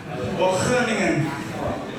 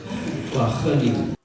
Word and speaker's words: Wageningen: Pronunciation-nya gimana? Ada kolom-kolomnya Pak. Wageningen. Wageningen.